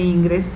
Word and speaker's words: Ingres: Bueno, se pronuncia Angre, pero se puede decir Ingres. Justino Fernández encuentra mucha influencia de Ingres en Clavé y en sus discípulos.